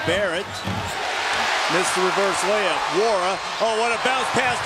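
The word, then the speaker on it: Nwora: Wara's got 12.6 rebounds and that assist. The N in his name is silent.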